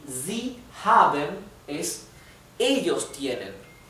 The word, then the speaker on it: haben: have recuerden que la a, perdón, una vocal cualquiera cuando está seguida por una consonante sola y después otra vocal, esa vocal se pronuncia más larga. Haven, haven, we have.